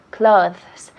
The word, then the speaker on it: clothes: Decimos clothes, clothes. La TH es suave, pero lo decimos clothes, clothes.